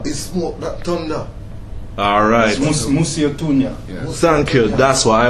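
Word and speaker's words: Mosi-oa-Tunya: So, okay, give me the right pronunciation, my brothers. Well, Musse? in English, it's smoke that thunder. Alright. Musiotunya.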